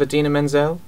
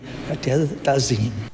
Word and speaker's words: Idina Menzel: Travolta's pronunciation of Idina Menzel. Adele-dazine.